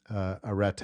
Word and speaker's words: arete: These different actions of using the tool to achieve excellent results was their individuality in expressing arete. I'll use the sort of biblical Greek pronunciation.